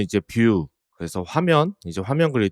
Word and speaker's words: Vue: 이렇게 쓰죠 발음은 이제 뷰 그래서 화면 이제 화면 그릴 때 뷰 이런 얘기를 할 때 그 그대로 써서 발음은 똑같이 하지만 이제 스펠링은 다른 이제 외국에서 많이 하는